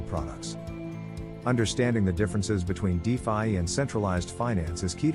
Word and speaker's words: DeFi: decentralized Finance is also known as defi pronounced defi it is the umbrella